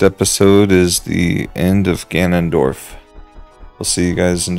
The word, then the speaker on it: Ganondorf: be fine you're not you're not gonna survive Ganondorf I say it right again yeah you did